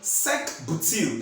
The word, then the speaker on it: sec-butyl: This structure is actually sec-butyl. That's how it's being pronounced.